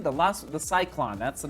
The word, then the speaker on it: Cyklon: did i say the name the last the cyclone that's the name of the shoe so this is how you spell it c y k l o n c